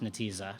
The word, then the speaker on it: Netezza: I do know that it's pronounced Netezza, so points for me.